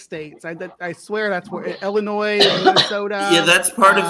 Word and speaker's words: Illinois: It's Illinois, by the way, not Illinois. It's Illinois. You don't pronounce the S. The S is silent.